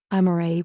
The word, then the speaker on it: Amara: Amara. He pronounced it perfectly, the Korean way, Amare, with equal stress on each syllable.